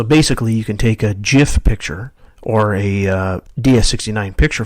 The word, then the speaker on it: GIF: load Jif pictures there I pronounced it the right way Jif I have to be honest I used to pronounce that gif I don't know if